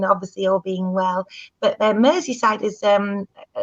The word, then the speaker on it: Merseyside: Liam Wood said that you haven't been to, am I saying it right, Merseyside, home of the Beatles, and they've really missed you. Oh, Merseyside.